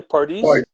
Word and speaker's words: Pardis: Pardis.